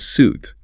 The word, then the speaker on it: suit: The pronunciation is suit, rhymes with boot.